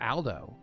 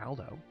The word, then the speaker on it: Aldo: Then I guess without further ado, or without further Aldo, am I pronouncing that correctly, Aldo? You are. Yeah. So it's Al, not all.